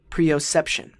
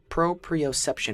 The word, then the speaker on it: proprioception: new word today let's see if I can pronounce it correctly Pro preoception proprioception which means having an internal awareness of your